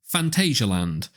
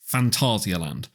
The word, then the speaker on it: Phantasialand: I've seen a lot of people pronounce it wrongly, so a lot of people will say Phantasialand, and that's just not right. The Germans pronounce it Phantasialand. So that's how I'm going to pronounce it, and as far as I'm concerned, anyone else is wrong.